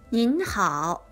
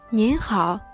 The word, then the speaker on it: 您: You should say, 您好，您好，您好，您好，您好，您好，您好，您好。 The pinyin of 您 is spelled N-I-N.